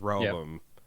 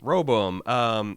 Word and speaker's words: Rehoboam: I think I'm saying that by just skipping the second syllable now. This is Rehoboam. Yep. Roboam.